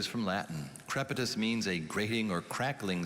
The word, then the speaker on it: crepitus: word is from latin maybe repeat the word crepitus k r e p i t u s crepitus crepitus is c r e p i t